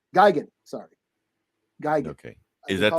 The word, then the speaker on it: Gigan: all right I'll do uh Godzilla rivals uh gegan Gigan sorry Geiger okay is that the correct pronunciation are you just doing it I I